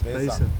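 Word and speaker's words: Beisa: The Basa oryx? Besa.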